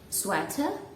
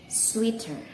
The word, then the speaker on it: sweater: people i mean they instead of pronounce it sweater they say it sweeter and i really don't know why they say that and i'm going to tell you how to pronounce it correctly one more time it is sweater not sweet one more sweater that's for british i guess and for american you say sweater sweater just like that okay list number seven